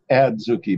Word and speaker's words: adzuki: off adzuki beans zucchinis adzuki beans adzuki okay sorry if I don't have a complete correct pronunciation it might be a Z not a DZ okay but they're they're